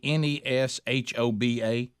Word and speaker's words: Neshoba: how to say the county over in mississippi n-e-s-h-o-b-a is it neshoba oh you got it uh